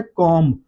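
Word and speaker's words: comb: इसी तरह से वर्ड है कॉम। कॉम में भी बी साइलेंट है।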